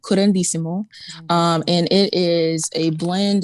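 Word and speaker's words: curanderismo: word current durismo means can you help me pronounce it and also could help me find it for people yeah so it's called qurandissimo and it is a blend of latin and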